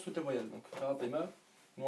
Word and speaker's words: Fatima: j'ai eux ils disent fatimato parce que en fait ils prononcent toutes les voyelles donc Fatima nous en arabe on prononce pas le la dernière voyelle donc on dit Fatima